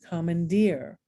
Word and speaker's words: commandeer: a present okay um the oon and ear syllable is accented raccoon commandeer and last but not